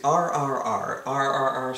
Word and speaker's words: RRR: title even is is it how do you pronounce this well it is rrr stands for rise roar revolt it is an